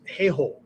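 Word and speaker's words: 兵法: In Bushido, the word is heiho, right? Don't mispronounce that, okay? Heiho, H-E-I-H-O, okay?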